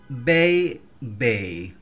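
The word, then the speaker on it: bébé: থেকে ডানের দিকে যায় তো এই অ্যাকশনটা থাকলে অ এর উচ্চারণ অর্থাৎ ফ্রেঞ্চ অ্যালফাবেট অ এর উচ্চারণ আর অ থাকবে না উচ্চারণটা এ এর মত হয় আমি উদাহরণ দিচ্ছি লু বে বে লু বে বে লু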